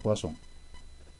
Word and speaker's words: Poisson: Poisson se escribe, pero se pronuncia Poisson.